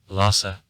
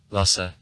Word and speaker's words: Lhasa: follows old tibetan aspiration in the modern language the losses said the accent falls on the second syllable lassa chinese and two english lassa h isn't said two languages lhasa is